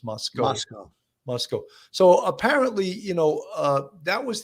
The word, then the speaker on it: Moscow: And that's why I think that the Moscow, it's apparently it's not pronounced Moscow like in the Soviet Union. It's pronounced Moscow.